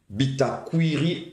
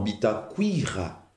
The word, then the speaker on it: Bitakuira: Bitakuiri... Non, Bitakuira.